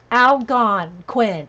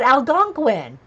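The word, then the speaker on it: Algonquin: in the next collage Al gone Quinn Al gon Quinn Al yeah I know that you know Jean I knew that I don't know why I didn't say it right but Al gunin thank you Jean thank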